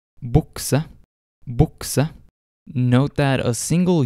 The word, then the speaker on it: bukse: Sometimes the letter U will sound like O. Examples of this are ungdom, bukse.